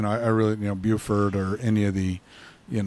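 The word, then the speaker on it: Beaufort: and grandkids so I'm glad you pronounced Buford correctly I remember years ago I was at history conference in Charleston this fell told me that he was going to go visit bordt South Carolina bordt South Carolina I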